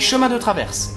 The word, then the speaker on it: Chemin de Traverse: tu veux aller quelque part il faut bien prononcer ta destination donc tu as compris Harry on dit Chemin de Traverse Chemin de Traverse c'est ça fout-toi de ma